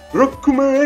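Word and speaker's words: ロックマン: O certo é Rokuman Ekuze!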